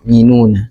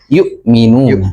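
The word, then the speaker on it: يؤمنون: Ee namun tadi ee masih ada yang di ayat yang keempat ya ada terdengar walladina yinuna. Nah, ayat yang keempat tadi. Heeh. Maka Oh, iya. Membacanya yaitu ya Hamzah ya. Yukminuna.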